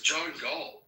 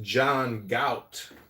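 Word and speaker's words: John Galt: I really got the who who is John G? I think you're pronouncing it wrong. It's pronounced John Gout.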